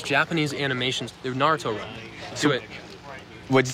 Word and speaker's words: Naruto: you know in Rowlett what is it it's Naruto you're the top just say it like that oh they're gonna grill